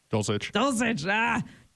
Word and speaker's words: Dulcich: Dulcich.